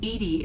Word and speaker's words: EDI: are you named edie edie is the phonetic pronunciation of edi that is an acronym for enhanced defense intelligence your location where are